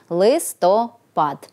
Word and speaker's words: листопад: Хоч у деяких діалектах української мови цей іменник наголошують на другий склад, літературній же нормі відповідає лише наголос на останньому – листопад.